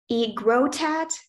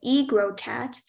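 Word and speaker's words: aegrotat: of origin I'm sorry the pronunciations are egotat or egrotat and the language of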